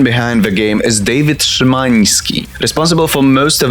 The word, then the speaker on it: Szymański: Speaking of Szymański as a sneering language purist that can at best barely speak 3 languages, this is how you pronounce that surname. Szymański, not Szymański.